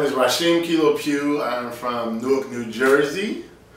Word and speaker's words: Rasheem Kilo Pugh: Today we have Rasheem Kilo Pugh.